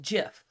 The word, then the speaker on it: GIF: convert this into a gif a gif file i know it sounds or looks like gif but it's actually pronounced jif who would have thought